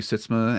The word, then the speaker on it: Sytsma: Sitzma and the same at Blue Sky, and that's SYTSMA, because I know most people want to spell it SYSTMA, but it's not.